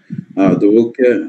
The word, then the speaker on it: Doroke: Doroke, mais sauf que, ouais, il n'y a pas le G dans la prononciation, c'est Doroke.